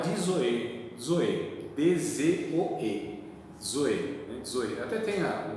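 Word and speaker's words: ζωή: lá é dizoe, D-Z-O-E, zoe, né? Zoe. Até tem um grupo aí de música, não tem? Zoe, né? Zoe, é a mesma coisa, zoe, é que na pronúncia é zoe, né?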